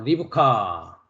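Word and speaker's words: רבקה: 바 있습니다 그다음에 이제 두 번째로 리브카 한글은 이제 리브 가라고 하고요 어 원문은 이제 리카라 어 히브리 발음을 할 수가 있습니다 그다음에 이제 영어에서는 레베라 한다고 했습니다 어 지난 시간에 이제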